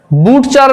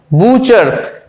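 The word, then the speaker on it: butcher: তারপরে দেখো বুচার, বুটচার নয়, বুচার, এখানে কিন্তু টি উচ্চারণই হচ্ছে না, দেখো বুচার অর্থাৎ এখানে টি সাইলেন্ট থাকছে।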